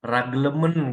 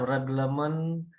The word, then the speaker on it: Reglement: Jadi cara baca bahasa asing atau Belanda sama dengan seperti tulisannya. Tidak raglemen gitu dia kan. Atau of the Burg, enggak. Seperti tulisannya Reglement of the Burgerlijk Rechtvordering.